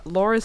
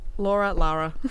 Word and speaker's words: Lara: So I entitled this this review of Shadow of the Tomb Raider DLC, The Nightmare, called Laura's Sweet Ass. Did you just say Laura? Lara. It's Lara.